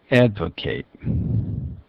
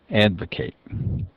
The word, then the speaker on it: advocate: changes to an S Advocate Advocate that's a verb form and it stresses the first syllable Advocate Advocate is the adjectival form and it changes this last of vowel sound effect and that is